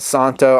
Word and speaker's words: Szanto: box you saw already the Z is silent they're calling it Santa I'm gonna do another